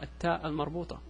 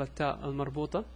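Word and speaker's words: التاء المربوطة: The rule is, if you're reading the word and you stop after that word, like you stop, you will pronounce it as an H. If you continue reading, it will be pronounced as a T.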